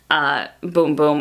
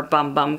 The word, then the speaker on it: Bum Bum: the Sol de Janeiro Boom Boom or Bum Bum Cream, depending on how you pronounce it.